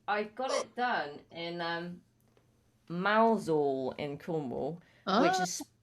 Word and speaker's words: Mousehole: And I got it done in Mousehole in Cornwall, which is spelt mouse hole in one word, but it's pronounced Mousehole.